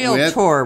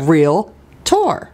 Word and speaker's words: Realtor: Realtor. We're going to teach you how to say this property. Say what? Realtor. Realtor.